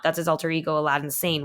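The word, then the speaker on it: Aladdin Sane: that's his alter ego Aladdin San which it spelled like Aladdin in the magic lap Aladdin but it's like a lad insane and I was like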